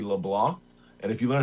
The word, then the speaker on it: Leblanc: Tyson Leblah, it's a French Canadian pronunciation. It looks like Leblanc, but it's actually Leblanc.